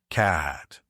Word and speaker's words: Cahhatz: It's spelled differently and pronounced in two syllables. Kahhat.